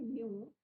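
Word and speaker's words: knew: अब राजा को जो है एक पुरानी जो है, नो का जो है यहाँ पे सेकंड फॉर्म यूज हुआ है, न्यू के साइलेंट रहता है बच्चों, न्यू द ओल्ड सेइंग।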